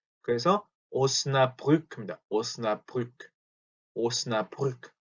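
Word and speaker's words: Osnabrück: 자, 오스나브르크 같은 경우는 또 도시 이름이거든요. 근데 발음이 조금 어려울 수 있어요.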